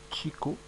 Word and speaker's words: chikou: le chinko c'est bon les Japonais le prononce Chiko donc moi aussi je vais prononcer chik parce que puisque il prononce comme ça moi je prononce aussi Chico le Chico c'est